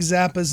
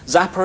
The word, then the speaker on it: Zappa: is a BBC documentary the Brits and their pronunciation of Frank Zappa's name the American musician Frank Zappa zapper is zapped Erick Frank Zappa Paris zapper is